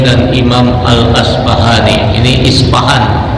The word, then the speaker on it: Isfahan: Imam Al asyfahri ini isfahan di Persia ada membacanya isfa'an orang Arab enggak bisa